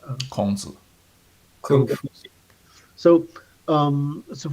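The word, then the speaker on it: 孔子: Kongzi.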